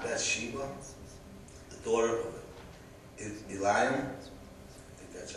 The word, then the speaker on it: Bathsheba: And someone said, "Is this not Bathsheba, the daughter of Eliam?" That's how you pronounce it.